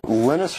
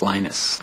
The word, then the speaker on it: Linus: lenus tals came along lenus or lonus what's the exact your preferred pronunciation um when I speak Swedish it's lenus when I speak Finnish it's lenus when I speak English it's Linus and I really don't